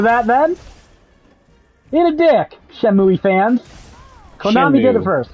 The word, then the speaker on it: Shenmue: Don't put an extra E in there if it doesn't get spoken.